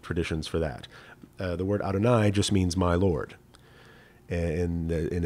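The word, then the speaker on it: אדני: However, part of our tradition is that we don't pronounce that word as it appears on the page. This is just letters that stand for God, but we don't pronounce it. Instead, we say Adonai.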